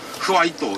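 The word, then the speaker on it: ファイト: 이런 걸 말하고 일본에서는 파이팅을 하지 않고 와이또라고 합니다. 틀 발음을 잘 못합니다. 일본이. 어느 고정하고 그래서 와이또 이렇게 하고. 와이또. 네. 그런데 또 흐와이또 이렇게도 발음합니다.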